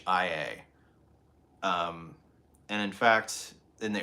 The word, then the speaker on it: Ohio: But one thing you have to know, the correct pronunciation of the state is Ahia. It's Ahia.